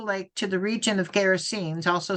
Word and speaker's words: Gerasenes: Gerasenes.